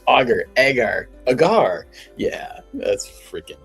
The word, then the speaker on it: agar: It's actually pronounced a g a r auger.